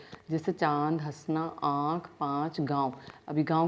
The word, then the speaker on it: गाँव: अभी गाँव का उदाहरण देखिए, गाँव के ऊपर से चंद्र बिंदु को हटा दिया जाएगा अनुनासिक को, तो कैसे बोला जाएगा? गाँव। ये अशुद्ध उच्चारण है, इस पर चंद्र बिंदु आने पर ही ये शुद्ध उच्चारण होता है, गाँव।